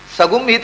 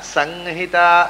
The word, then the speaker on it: ಸಂಹಿತಾ: ಸಂಹಿತ ಅಂತನ್ವಾ ಸಂಹಿತ ಅಂತ ಹೇಳ್ಬೇಕು ಅದನ್ನು ಅಷ್ಟೇ. ಂಗ ಸಂಹಿತ, ಸಗುಂಹಿತ ಅಲ್ಲ, ಸಂಹಿತ ಂಗ. ಸಂಹಿತ ಅಲ್ಲ, ಮಕಾರ ಅಲ್ಲ, ನಕಾರ.